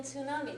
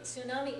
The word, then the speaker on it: tsunami: in English but yeah most people just give it an S sound but the t is there in the English spelling of it tsunami they just say